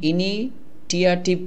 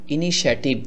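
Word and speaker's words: initiative: দেখুন ইনিশিয়েটিভ যদি আপনি ইনি টিআরটিভ এভাবে করে উচ্চারণ করেন তাহলে হবে না এই টি আর আই মিলে আপনার স হয়েছে আর এর দ্বারা হয়ে গেল এ ইনি টি আই ভি ইনিশিয়েটিভ ইনিশিয়েটিভ মানে হলো উদ্যোগ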